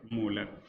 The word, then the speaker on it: molar: इसलिए जब इनका यूनिट लिखेंगे तो इनका यूनिट कहा जाता है मोल पर लीटर, या फिर इसे कैपिटल एम से लिखते हैं और इनका प्रोनाउंसिएशन होता है मोलर।